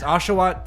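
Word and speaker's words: Oshawott: water water washingtonia what is it called ashat aswat I said it right there you go it's aswat Tepig and then Snivy to me it was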